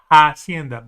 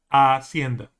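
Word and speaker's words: hacienda: By the way, the word is not hienda but aenda without the the h is silent. Okay, because the h is silent uh for that word.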